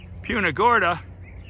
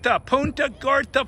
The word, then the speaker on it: Punta Gorda: So it's gonna be quite interesting to see how we do in Punta Gorda.